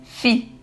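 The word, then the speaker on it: phi: Ele começou a me contar sobre a razão pi. Pronuncia-se fi de 1,618 arredondada, que há três casas decimais.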